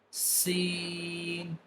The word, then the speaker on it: س: Sin. Sin. While pronouncing Sin, you will produce a whistling sound because the pronunciation of Sin will not be appropriate if the whistling sound will not produce.